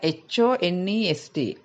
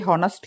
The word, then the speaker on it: honest: අවංක පුද්ගලයෙක් honest person මෙතන HONEST කියලා තිබ්බට මේ H අකුර silent H අකුර ශබ්ද වෙන්නේ නැහැ. ඒ නිසා අපි honest කියන්නේ නැහැ. අපි කියන්නේ honest කියලා. O අකුරෙන් පටන් ගන්න.